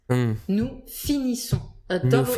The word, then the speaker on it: finissons: Then the plural has a different pronunciation. Je finis, tu finis, il finit. Je finis. Tu finis. Il finit. Then, nous finissons.